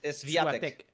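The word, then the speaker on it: Świątek: Siuatek, ¿cómo se pronuncia? No, esto es Swiatek.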